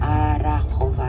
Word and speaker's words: Arachova: Estamos en el pueblo llamado Arajova, Arajova, lo pronunciarían ustedes.